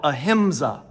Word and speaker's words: ahimsa: In Hinduism, they would call it ahimsa. You can spell it just like it sounds.